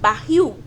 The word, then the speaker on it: barril: Oxítono porque a última sílaba, barril, fuzil, é que é a mais forte. O mais forte é o il.